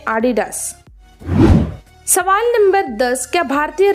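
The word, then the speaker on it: Adidas: इसका सही उच्चारण इसका उच्चारण गलत है इसका सही उच्चारण है एडिडास सवाल नंबर 10 क्या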